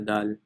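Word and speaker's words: دال: However, it's also important that you don't pronounce it like the English D, but instead it's the dal, Arabic dal, right? So in English D, you actually don't touch your teeth at all.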